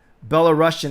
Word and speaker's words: Belarusian: Belarusian is how you say it.